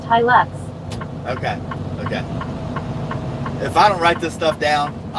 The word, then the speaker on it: Hilux: At Cool Dash Guy said, it's pronounced Hilux.